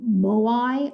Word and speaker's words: moai: big giant stone statues called um moai i guess is how you say them and the people who